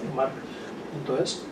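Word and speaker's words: March: la Fundación Juan Marc, marc.es, Marc con CH, pero lo pronuncio como en valenciano, marc.es.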